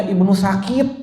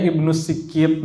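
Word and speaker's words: ابن السكيت: Pertama kali lihat tulisan itu saya bacanya Ibnu Sakit, ya Allah. Ibnu Sakit, ternyata bacanya Ibnu Sikit.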